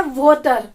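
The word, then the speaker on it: what're: Vote आर की pronunciation होता है वोटर, वोटर, वोटर नहीं, पानी, वोटर मीन्स पानी, वो वाला वोटर नहीं प्रोनाउंस करना इसको, वोटर। आधा वे है, आ और आधा टे, वोटर, वोट और फिर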